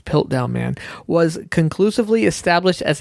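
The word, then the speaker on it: Piltdown: scientific history holy dawson dawson's pill down man was sorry i was mispronouncing his pilt down man was conclusively established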